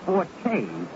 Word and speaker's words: forte: And the way you pronounce that word when it's used in the term that we were using it is Fort. Just like Fort Knox or Fort Dix.